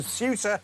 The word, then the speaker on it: Ceuta: I think that's what we call it now. I think I pronounced it wrong all day yesterday, but in my defense, so did every other presenter. So Suta it is uh bursting through the